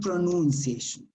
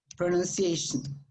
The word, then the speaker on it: pronunciation: also, pronunciation is another, it's not pronunciation, pronunciation, okay?